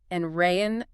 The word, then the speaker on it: Andrean: Locally, it is pronounced Andrean High School.